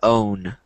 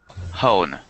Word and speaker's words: own: and then this word own hone no not with an H there's no h there so it's just own oh there you go